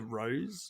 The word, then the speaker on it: Rosé: tell me where the Rose is Rose and i' be like you've got a text from your Ms don't you they like yes it's pronounced Ros and it's right here